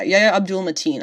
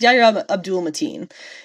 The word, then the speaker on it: Yahya Abdul-Mateen: Yeah, Yahya Abdul-Mateen. I didn't want to say it wrong. I wasn't sure if it was Mateen Abdul. It's Yahya Abdul-Mateen.